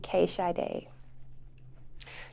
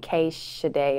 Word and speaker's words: K Shiday: name that would be k shy day do people mispronounce this a lot i do too but it's only because everybody else called calls me cash today instead of k shy day but it's not a